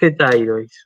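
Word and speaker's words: ἑταίροις: Tois hetairois. Muy bien, así es. Con el cambio de acento, ¿sí?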